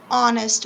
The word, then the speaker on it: honest: and for vowel sounds honest is a vowel sound so and on it